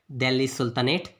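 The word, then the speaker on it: Delhi Sultanate: इसका सही pronunciation English में है दिल्ली सुल्तानेट। 1206 से 1525 तक का टाइम पीरियड था ये।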